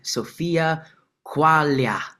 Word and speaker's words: Sofia Quaglia: And today we are met with Sophia Qualia.